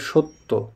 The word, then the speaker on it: সত্য: তেমনিভাবে স না হয়ে সত্য, জ ফলা আছে।